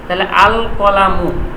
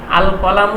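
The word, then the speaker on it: الْقَلَمُ: বা হরফটা আছে বা হরফটা কি কমারিয়ার হরফ আল কলামু তাহলে কফটা যে উচ্চারণ হচ্ছে এই কফটা উচ্চারণ হচ্ছে এই কারণে আল কলামু লামটা উচ্চারণ হওয়ার কারণে কফ শব্দ হরফটা হল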